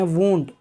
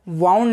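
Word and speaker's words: wound: Next वर्ड इज जख्म या घाव, इसे इंग्लिश में कहते हैं वूंड। वूंड याद रहे आपने, इसे वाउंड नहीं पढ़ना है। करेक्ट प्रोनाउंसिएशन है वूंड।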